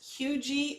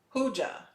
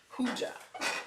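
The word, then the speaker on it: hygge: Okay, the Hygie is pronounced Hugie or Hoogie. Hooja, not G. Hooja.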